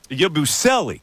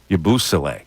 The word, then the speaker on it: Yabusele: Now, the way they pronounced it in Boston, I remember, was Yabusele, which I like a little better than Yabusele.